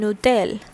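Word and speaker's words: hôtel: So in French usually this H is silent, and accordingly the next alphabet coming over here is a vowel. So this consonant gets connected to the vowel and produces sound collectively, and it forms a nutel.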